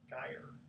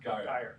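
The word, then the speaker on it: Geier: I guess you pronounce it G-E-I-E-R. Geyer.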